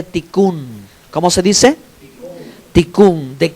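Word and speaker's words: תיקון: esa palabra de corrección en hebreo se dice ticun Cómo se dice ticun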